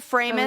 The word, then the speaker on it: Framis: Alicia Framis. Alicia. And don't you think it's interesting that her last name rhymes with famous?